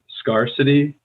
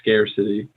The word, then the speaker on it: scarcity: You said scarcity, and we say scarcity. Okay, scare, like even scare.